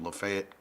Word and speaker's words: Lafayette: I'm from a little town called Lafayette, Kentucky.